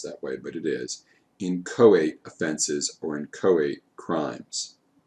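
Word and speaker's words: inchoate: and i know it doesn't look like it's pronounced that way but it is in koat offenses or in koat crimes you attempted to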